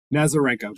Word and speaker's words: Nazarenko: you really say it nazarenko just like it's spelled nazarenko okay um matt